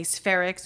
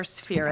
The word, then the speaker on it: Sphaerics: It's mostly phonetic, unless people say they could say Sphaerics or Sphaerics.